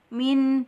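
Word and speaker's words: من: Min, bukan minha, tawasudnya hilang, ya. Min ditahan dan ada sampai mengalir ke hidung karena dia mempunyai sifat hunnah.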